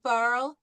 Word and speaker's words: parles: Tu parles, S is not pronounced.